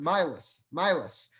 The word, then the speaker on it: Males: And one thing he found out in the course of his research was that it wasn't always pronounced nails. It seems like back in Poland, it was pronounced Milas.